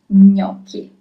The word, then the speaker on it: gnocchi: our Italian kitchen is gnocchi. Gnocchi. That's the way you pronounce it. Gnocchi. Also, you have CH. Remember that CH is always read as K. It's never ch in Italian, but always K.